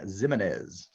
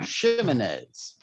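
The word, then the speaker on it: Ximines: It is an SH sound. Shimenez. These are just delicious names once you master them. I absolutely I love them. Shimenez.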